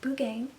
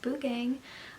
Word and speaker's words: Buugeng: this video off by saying that it is pronounced boo gang I have heard some really really crazy pronunciations of this Celeste I'm stating right now it's pronounced boo gang I've also seen them called s stops but